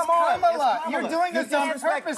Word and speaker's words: Kamala: Let me actually pronounce her name right. Kamala Harris. If Kamala. You said we don't call you Nancy. It's Kamala.